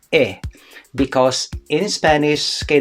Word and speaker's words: he: but it is pronounced e because in spanish okay the letter h is silent letter okay it is not